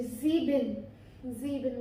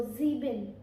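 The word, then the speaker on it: sieben: तो ज़ीबिन 7, हम ज़ेवन तो बोलते नहीं है ना इंग्लिश में, हम बोलेंगे, लेकिन जर्मन में हमारा होता है ज़ीबिन।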